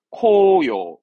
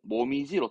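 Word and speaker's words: 紅葉: 발음은 코요. 음독은 코요. 보통은 모미지로 특별음으로 가죠.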